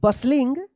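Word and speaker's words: bustling: बसलिंग बी यू एस टी एल आई एन जी बसलिंग to decorate D ई सी ओ आर ए टी E decorate the room.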